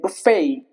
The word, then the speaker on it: buffet: Buffet. The T remains silent here as well.